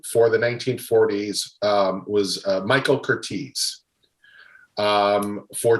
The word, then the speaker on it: Curtiz: It's Curtiz.